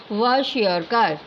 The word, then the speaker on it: Kwashiorkor: Kwashiorkor. Okay, K is silent and the pronunciation is Kwashiorkor.